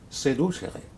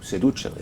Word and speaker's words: seducere: Seducere, ou seducere, ou seducere, comme vous voudrez, la prononciation latine, faire sortir du bon chemin.